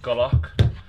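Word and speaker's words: golok: is a british army i think it's pronounced golock which is a type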